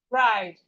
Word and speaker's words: bride: And we have this word like bride, bride, bride. The E here is silent.